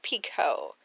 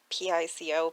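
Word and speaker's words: Picoult: her last name properly i think it's pico like p-i-c-o pico it's french if anybody knows for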